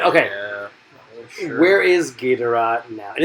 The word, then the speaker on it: Ghidorah: Where is Ghidorah now? And it's not Ghidorah. It's a Ghidorah. Actually, to be honest, in the Japanese, the Japanese pronunciation is always Ghidorah.